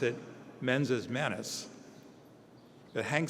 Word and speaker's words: mens et manus: We pronounce it mensis manus.